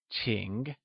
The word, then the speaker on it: 请: 请 is pronounced with a falling, rising tone, and starts with a ch sound, whereas 问 is pronounced in the falling tone.